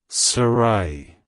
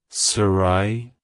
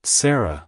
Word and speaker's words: Sarahi: name it's pronounced as Sarai Sarai Sarai to pronounce it correctly emphasize the second syllable ra and use a soft H sound at the end avoid pronouncing it as Sarah with an e at